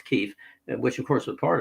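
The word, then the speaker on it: Kyiv: of kiev kiev which the pronunciation was called kiev then now it's keef which of course were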